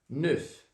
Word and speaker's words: neuf: Vai ficar ne, e eu pronuncio o F. Então esse F ele vai sair.